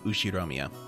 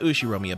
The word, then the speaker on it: Ushiromiya: is my family name ushiromiya that's a fairly plausible japanese pronunciation so far the problem